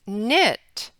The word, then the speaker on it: knit: K in consonant team the K is silent as in the word knit and night in your phonics and reading workbook turn to page 11.